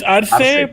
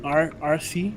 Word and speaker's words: Arce: Is it RC or Arce? It's Arce, but Arce? usually Americans say it like RC, like the RC Cola.